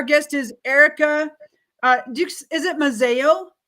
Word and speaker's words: Mazzeo: Is it Mazzeo? How do you say that? I don't even know. Yes, it's Mazzeo. You said it perfectly. Mazzeo.